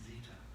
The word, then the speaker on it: Zita: i asked is if i pronounce your name zita would i be correct and she said yeah zita rhymes with cheetah i have much much